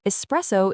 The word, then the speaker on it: espresso: Espresso is an Italian word and its meaning is the ultimate clue to its pronunciation.